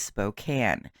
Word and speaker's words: Spokane: Before anyone tells me I'm pronouncing it wrong and it is Spokane, it is not. It is Spokane.